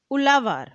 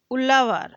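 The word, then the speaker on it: uzhavar: men were known as ulavar ulavar ulavar the spelling of ulavar is is u z h a v a r so Zed H is pronounced as l in South Indian languages landless laborers including slaves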